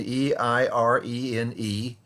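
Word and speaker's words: εἰρήνη: And for Paul, as he writes, he's writing in the Greek, and the Greek term peace, eirene, we would spell it in the English transliteration, E-I-R-E-N-E, eirene.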